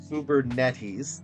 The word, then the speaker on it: Kubernetes: Then reduced failures by 40% in Scala-based microservices on Google Cloud's Kubernetes, that is how you say it, using Redis, Kafka, BigQuery, and Argo CD deployment with GitHub repositories.